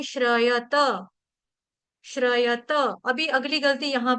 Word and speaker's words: श्रयत: लेकिन यहां पे त को देखो त यहां पर पूरा है। त आधा नहीं है। तो कोई भी डिवोटी अ श्रयत श्रयत नहीं बोलेगा।